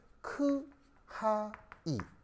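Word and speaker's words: χ: 이게 뭐냐면 그리스어 알파벳 중에 발음이 카이라고 하는 녀석입니다. 아시겠죠? 그래서 이제 왜 영어 알파벳에는 이렇게 쓰는 건 X잖아요. X 말고 그리스어 알파벳 중에서 이렇게 쓰는 애가 있는데 얘 이름은 크하이. 발음이 이렇게 됩니다.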